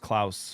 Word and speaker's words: Klaus: I think it's pronounced Klaus from the way they say it in the movie.